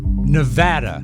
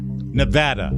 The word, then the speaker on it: Nevada: lot of wonderful listeners Nevada Nevada as they pronounce it not Nevada Nevada Nevada yeah Nevada